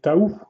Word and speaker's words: Tahu: Et donc j'ai eu mon premier personnage bionique, hein, c'était Tahu, ou Taou, si on prononce bien l'anglaise.